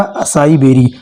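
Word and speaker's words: açaí berry: Next है हमारा करावन, जिसे करौंदा भी कहते हैं, स्पेलिंग है इसका ACAIBERRY, इससे हो जाएगा असाई बेरी, असाई बेरी means होता है करौंदा।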